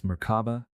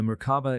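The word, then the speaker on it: Merkaba: came from ancient Egyptian it is seen in other cultures as maraba maraba and marava there are several pronunciations but generally you pronounce it as if the three syllables are separate with equal accents on each Mar refers to a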